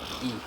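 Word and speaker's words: へ: As I told you, 99% of the time we pronounce it as just E, right?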